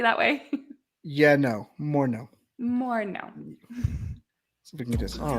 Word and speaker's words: Moreno: to get on dadgummit it's just more no yeah more no yeah more no it's super easy that way yeah no more no more no all right